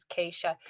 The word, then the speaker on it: Keisha: The correct pronunciation is Keisha.